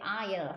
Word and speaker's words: aisle: 근데 aisle 할 때 A와 S가 묵음이라고 생각하시면 돼요.